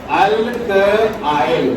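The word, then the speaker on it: alkyl: इसी को अल्काइल कहते हैं, अल्काइल। देखो यहाँ उच्चारण पर ध्यान देना, अल्काइल समझा? अल्काइल क्या लैंग्वेज क्लियर हुआ? यानी मिथ आइल, इथ आइल, प्रप आइल, लैंग्वेज क्लियर हुआ?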